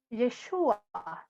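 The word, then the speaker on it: ישוע: Jesús, en hebreo, su nombre se pronuncia Yeshua, ¿sí?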